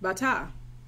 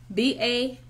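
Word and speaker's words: batah: So trust is a word that means Bata. Bata in Hebrew. B-A-T-A-H. Bata.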